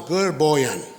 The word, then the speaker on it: Gerboyan: Whoever doesn't know me, my name is Gerboyan. The way you pronounce my name is girl and boy. Drop the L, becomes Gerboyan.